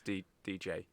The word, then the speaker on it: Deejey: So it's not like disc jockey, it's DJ.